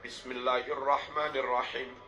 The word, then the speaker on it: Bismillahirrahmanirrahim: baca bismillahnya kurang benar harusnya dibaca Bismillahirrahmanirrahim bis ba kasrah ketemu Sin bis Tapi beberapa imam yang